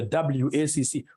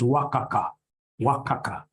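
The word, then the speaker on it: WACC: companies you'll get somebody instead of pronouncing this thing professionally as wac you get somebody calling it Waka Waka no no no no that's very unprofessional it's supposed to be wac it's supposed to be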